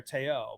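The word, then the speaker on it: Te'o: wrong because er no i think i just did it wrong there taiyo but like for yeah that's exactly it you know for forever everyone's saying manti teow and i don't know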